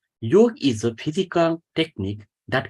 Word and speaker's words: yoga: advice to try yoga some other people says yoga but it's a real pronunciation is York is a physical technique